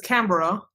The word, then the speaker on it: Canberra: I mean, your capital city is spelled Canberra. It's Canberra.